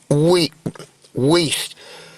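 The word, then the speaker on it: Wuest: West a request to unmute his device. Okay. Okay, Mr. West, can you hear me? Yes. All right, you are West? Yes, it's pronounced Weast. W-U-E-S-T, yes.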